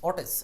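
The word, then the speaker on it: outage: ওয়াটেজ, আউটেজ, অটেজ। আউটেজ আলাদা করে বলা যাচ্ছে না, এটা হলো একসাথে উচ্চারণ, অটেজ, ও ইউ টি এ জি ই।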